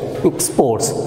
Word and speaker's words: export: And look at the word export. In verb, the stress is on first syllable, and when it is to be used as noun, the stress will be on second syllable, that is export, exports.